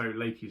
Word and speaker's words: Laches: classical civilizations, sort of there was no real silent letters, so everything was pronounced in a word, so Laches makes sense.